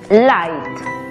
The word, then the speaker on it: light: htc aplicando la regla la gh es muda y la y toma su sonido abierto por lo tanto la pronunciación es light ahora hablemos de la